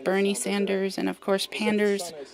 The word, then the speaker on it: Panders: Bernice Panders is a combination of Bernice because of Bernie Sanders, and of course Panders because it rhymes with Sanders, and because it's a panda combination of my regular panda username.